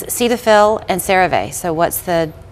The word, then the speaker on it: Cetaphil: it off okay um these are familiar names Cetaphil and Cave so what's the usage of those two correct so we we we confirmed this before we started here it's not sedil it is Cetaphil and then this is not Sarah V Sarah